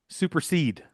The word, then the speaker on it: supersede: Supersede. Super seeded. So, two syllables. S U P. It's three syllables, you idiot. Super seeded. One, two, three.